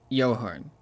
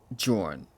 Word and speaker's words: Johan: I realized this entire time, throughout the entire time I've played this game, I've been saying his name as Johan, when it's just pronounced Jorn.